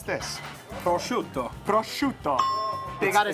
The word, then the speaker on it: prosciutto: How do we pronounce this? Prosciutto.